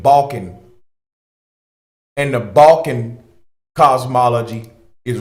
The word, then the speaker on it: Balkan: are the ban B excuse me the Balkans I'm mispronouncing they name the ban people b a l k a n balkon and the Balan cosmology